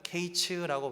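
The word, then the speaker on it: קץ: 근데 사실 이거는요, 이 성경에 흔히 나오는 문법 중에 하나인 워드플레이인데요, 이 여름과일은 히브리어로 카츠라고 발음을 합니다. 그리고 멸망은 케이츠라고 발음을 하죠.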